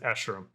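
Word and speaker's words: Escharum: already said that i i had to find someone else's pronunciation when i made my breakdown because i was like i don't know how to say this and thank goodness i found an interviewer that pronounced it ashram will we get a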